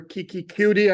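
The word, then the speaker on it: Keke Coutee: donon Christian wide receiver Kiki cue I'm told that that's how he pronounced his name um and then linebacker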